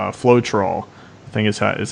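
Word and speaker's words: Floetrol: a product out there similar to retarder called float roll the thing is hat is how it's pronounced and it simply does the same thing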